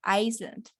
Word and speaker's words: Iceland: Entonces, ese en inglés se pronuncia así, Iceland.